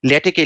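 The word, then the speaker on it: LaTeX: Anyway, paper আমরা সাধারণত লিখি হচ্ছে ওয়ার্ডে, কিন্তু আমি রিকোয়েস্ট করবো সবাইকে ল্যাটেকে লিখতে। ল্যাটেক হচ্ছে, এটা ক উচ্চারণ, সাধারণত ল্যাটেক্স বলি, কিন্তু আসলে কানুত বলেছে ল্যাটেক অ্যাজ আই কল।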